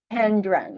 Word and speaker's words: Tendron: Tendron, like the number 10, and then Dron.